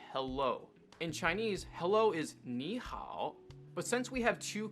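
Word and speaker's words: 你好: in chinese hello is nihao but since we have two characters here that both have the v tone the first character is going to be pronounced with the second tone or the rising tone this just makes it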